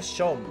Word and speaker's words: Seam: Me llamo Seam. Se pronuncia Shom.